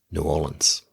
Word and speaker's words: New Orleans: By the way, you can always tell if someone has ever been to New Orleans because they pronounce it the right way. New Orleans.